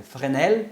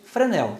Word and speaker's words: Fresnel: Então, a pronúncia correta é Fresnel, em francês. Tá? Em português, Fresnel, tá ótimo. Nunca coloquem esse S aqui, tá?